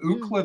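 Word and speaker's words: Ookla: In terms of Ukla the Mock, which is spelled O-O-K-L-A on the show, Ukla the Mock,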